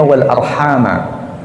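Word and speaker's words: وَالْأَرْحَامَ: Ini menurut qiraah jumhur, menurut cara bacanya mayoritas ahli qiraah, bacanya wal arhama.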